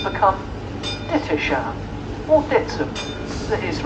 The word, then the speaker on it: Dittisham: you can see the village of Dittisham there in the distance, or Ditsham as it's pronounced locally.